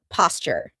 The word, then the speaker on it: posture: she has wonderful posture notice how I pronounce it posture that's because a T and A Y sound together make a CH sound like in Tuesday and tuna now onto the scariest